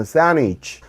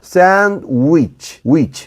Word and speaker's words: sandwich: 샌드위치인데 드 발음을 거의 안 해요. 그냥 sandwich. 그 W 발음은 입술이 튀어나와야 돼요. 그래서 sandwich, 입술이 이렇게 튀어나온다는 건 입술을 이렇게 둥글게 말아서 앞으로 내밀어준다는 겁니다.